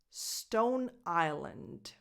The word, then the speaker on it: Stone Island: she in number five Stone Island Stone o Stone Island the s in the word island is silent Island and the last